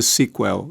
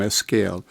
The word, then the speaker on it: SQL: Em inglês, aliás, pronuncia-se sequel e não SQL.